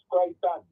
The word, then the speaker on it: Creighton: I'm a Purong, a friend of mine, Horace Crichton. Horace. Yeah, Horace Crichton. Wait. Spell that one. C-R. C-R-E-I-G-H-T-O-N.